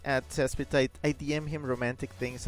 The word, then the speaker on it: Saspetite: impossible to know, but my username is pronounced Saspetite. Tidy, okay, got it. Now I know. I've been there. I've been there in the terms of like things people don't know how to pronounce. And boy, you know, as a streamer, one just like messes that up all the time. Tidy, okay. Chip says rhymes with Aphrodite.